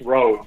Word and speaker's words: Rowe: It's Rowe. That's how they pronounce it. Like row a boat, but with an E on the end.